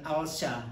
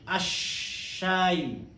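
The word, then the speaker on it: الشاي: Kenapa syam syiah ya? Ash. Bukan al-syah, tapi asyayu.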